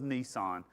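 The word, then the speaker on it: Nisan: So, uh now that month is the month of Nissan, like the vehicle, but only one S. Uh it's pronounced the same way, but they're in the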